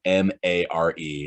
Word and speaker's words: Mare: It's spelled, it's not like mayor, like the mayor of whatever. It's like Mare. It's her name.